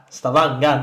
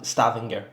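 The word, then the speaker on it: Stavanger: Stavanga, not Stav Stavinger.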